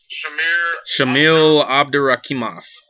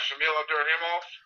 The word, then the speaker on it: Abdurakhimov: The K is silent.